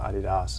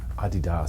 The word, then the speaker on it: Adidas: kind of blindly advertising Adidas sounds so much better than Adidas I know that's what